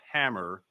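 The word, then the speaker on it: HAMR: And we are investing in new technologies to support capabilities for HMR, pronounced hammer, short for heat assisted magnetic recording, which will contribute to future growth.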